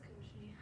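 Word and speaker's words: Cauchy: So we will use, That's pronounced Koshi? yeah, It's Koshi. Koshi. How are you been pronouncing it? I would say that's Koshi. Yeah, I think Koshi would say it's Koshi.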